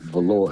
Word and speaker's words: Velore: Because if you notice, Velore rhymes with Cat Claw.